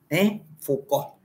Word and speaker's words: Foucault: Lo primero que voy a decir es que cómo se pronuncia, Michel Foucault, Foucault, aunque se termine en ault, termina, se dice Foucault.